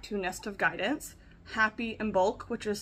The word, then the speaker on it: Imbolc: everyone welcome back to nest of guidance happy and bulk which is spelled i m as a mother b o